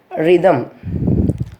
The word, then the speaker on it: rhythm: Then next, in RH combination, rhythm, RHYTHM, but we are not pronouncing the H, rhythm, rhyme, etc.